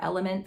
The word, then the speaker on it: LMNT: lmnt which i love or element i've been corrected on saying it wrong i like those they're